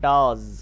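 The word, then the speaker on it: does: তো এই জন্য আবারো আমরা এই এসটাকে জ বা ঝ এর মাঝামাঝি সাউন্ড করবো। এটা পড়বো ডাজ। অনেকে ডাজ পড়ি। ডাজ না এটা। ডাজ নয়। এটা হচ্ছে ডাজ।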